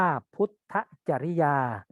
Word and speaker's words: พุทธจริยา: พุทธจริยา จะ ไม่ อะ นี้ อ่าน ว่า พุทธจริยา เด็ก ๆ หลาย ๆ